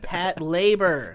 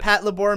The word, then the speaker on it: Patlabor: deal out of it pet labor pat right it is we have to we have to end the pat labor meme and i know it's partly my fault because i've been pronouncing it wrong forever but as soon as i watch the like it stands for patrol labor that's what it stands